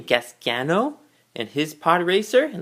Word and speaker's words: Gasgano: And here is, I believe how you pronounce his name, Gasgano, and his pod racer, and let's take a look into it all.